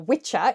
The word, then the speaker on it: Wicca: He named this religion Wicca, initially spelled W-I-C-A, then by the 60s standardised to W-I-C-C-A. Wicca, W-I-C-C-A, or Witcher in its original pronunciation, is an old Anglo-Saxon word for a male witch.